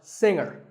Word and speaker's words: singer: is pronounced subtle another popular word with a silent letter is singer the G is silent now we say finger we say the G younger again with the G but singer no G and what would